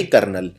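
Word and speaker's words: colonel: बहुत ही डिफिकल्ट है इसको लिखते हैं कल ले कर लो नल सी ओ एल ओ कोलोन mail लेकिन बोलते हैं जनरली कर्नल तो यह स्पेलिंग काफी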